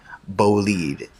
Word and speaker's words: Bolide: The Bugatti Bolide. I know it looks like it's spelled Bolide, but it's pronounced Bolide.